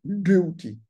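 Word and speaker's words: Djéhouty: Comment se fait-il alors que l'oracle est désigné comme étant Thoth Hermès ou Djéouti, dont la véritable prononciation est Djéouti, de, comme sous la langue de Djéouti.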